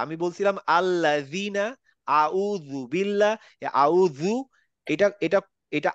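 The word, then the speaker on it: أعوذ: স্যার আউযু না আউযু আউযু, আপনার জিভ দাঁতে লাগতে হবে।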